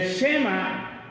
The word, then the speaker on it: Shema: Miren, el Shema judío, que era esto, hermanos, el Shema, S-H-E-M-A, con acento en la E, el Shema judío, era lo que nosotros conocemos una plegaria.